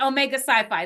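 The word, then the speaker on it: Omega Psi Phi: it Omega sci-fi or is it that's it Omega sci-fi that's how you pronounce it yeah yeah um that would be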